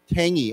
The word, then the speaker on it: tangy: Tangy. Actually, there's no G. We don't say G. We say tangy.